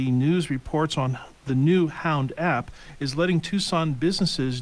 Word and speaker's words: Hownd: Hound is spelled HOWND, and it's going to be helping Tucson locals to patronize local businesses by directing foot traffic based on your GPS location through the Hound app.